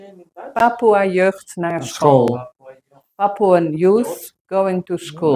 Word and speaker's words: Papoeajeugd Naar School: Papoeajeugd Naar School.